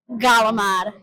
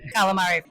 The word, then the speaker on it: calamari: How do you pronounce Italian fried squid? Galamad. Calamari? No, I'm just kidding. Ew. Calamad. Galamad. Galamad. Calamari. Calamari. So it depends on who I'm talking to.